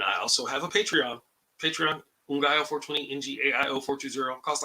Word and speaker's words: Ngaio: Well, it turns out that the spelling of my name is pronounced Ngaio, so Ngaio.